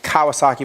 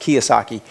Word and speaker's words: Kiyosaki: It's spelled like Kawasaki, but I think it's pronounced Kiyosaki. Kiyosaki, yeah.